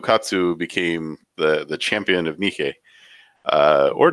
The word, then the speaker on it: Nike: with him, Hiraku Katsu became the champion of Nike. Or Nike, if you want to pronounce it that way.